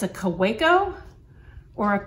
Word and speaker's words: Kaweco: i hear it in different ways it's a kuwaiko or a caveco so i'm going to say kuwaiko because i recently watched the apple boom interview